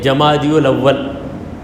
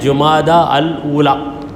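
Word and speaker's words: جمادى الأولى: جمادی الاول، مگر صحیح تلفظ اس کا ہے جمادہ الاولی. جمادہ، اردو والوں نے اس کو جمادہ ہی لکھا، پڑھنے والوں نے جمادی پڑھ لیا اس کو.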